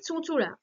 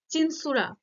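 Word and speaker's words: চুঁচুড়া: ঘটে যাচ্ছে উচ্চারণে তারপরে চুচুরা চুচুরাকে বাংলায় এরকম বানানো হয় এবং সেটা যখন ইংলিশে লেখা হয় দেখো চিনসুরা টাইপের হয় কিন্তু এটা বলতে কি চুচুরাকেই বোঝানো হচ্ছে চুচুরা কিন্তু উচ্চারণটা দেখো চিনসুরা হয়ে যাচ্ছে ফলে এরকম যে এক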